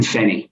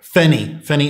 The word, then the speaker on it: Feni: How do you pronounce the first one? Yep. Ferguson Island and Fenny. Fenny Island.